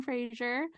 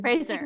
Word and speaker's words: Fraser: shout out to Brandon Frazier um Frazier right Frasier Fraser Fraser rhymes with Razer razor okay Brendan Fraser hot